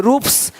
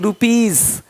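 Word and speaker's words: rupees: पी, टी आदि वर्ण हो तो एस का उच्चारण सा होता है। जैसे कि यहाँ पे रूप्स, यहाँ जा साउंड नहीं आएगा, लेकिन यहाँ पे एक्स नहीं एग्स। हीरोज, हीरोस नहीं, देख रहे हो, रुपीस नहीं रुपीज, ज का साउंड आ रहा है हल्का सा।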